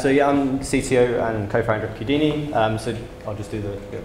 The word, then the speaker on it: Qudini: And our website's on GitHub, just Qudini, Q-U-D-I-N-I. It rhymes with Houdini because you escaped the Q.